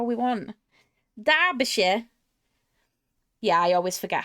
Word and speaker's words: Derbyshire: Derbyshire. Yeah, I always forget how to pronounce it. Derbyshire. Derbyshire. Shire. Zibidi. Not Shire or Shia, it's Sure.